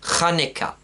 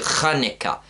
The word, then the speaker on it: Hanukkah: as it's correctly pronounced, Hanukkah. Because it's not actually a hey, which is our H in English. It's actually a letter Cheth in Hebrew, which gives the ch sound. So it's actually Hanukkah.